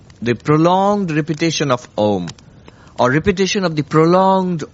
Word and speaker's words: Om: Actually, if you pronounce Om, you go through the entirety of all sounds because it starts with an open mouth. Ah, and then you slowly close the mouth.